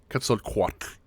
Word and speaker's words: Quetzalcoatl: Yeah, Quetzalcoatl. So it's on the co in that Quetzalcoatl.